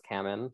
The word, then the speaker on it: Kamman: Is it Kamen? Kamen? Yeah, you know, I've heard different pronunciations, but the way that she said it on her TV show was Kamen.